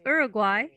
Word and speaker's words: Uruguay: she i'm 22 years old and i'm it's pronounced uruguay and well i'm showing you in the map